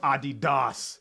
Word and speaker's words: adidas: good folks over at adidas or a ddos if you're going to say it correctly I really like this